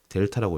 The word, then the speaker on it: 델타: 그거를 fb 빼기 fa를 y의 증분이라고 하고 자 삼각형 x, 삼각형 y로 표현하는데 얘를 델타라고 읽어요. 델타. 그래서 델타 x, 델타 y 이렇게 삼각형이 나오잖아요. 델타라고 읽고 변 변화량 변화량 혹은 증분이라고 있습니다.